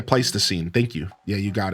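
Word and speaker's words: Pleistocene: It's like it's pleasine, but I just don't know how to pronounce an upside down backwards e. Yeah, place the scene.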